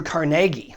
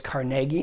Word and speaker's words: Carnegie: gave his gift Andrew Carnegie and if you're from Pittsburgh you know it's Carnegie not Carnegie and I almost get my head chopped off my Pittsburgh relatives if I say it wrong but he gave he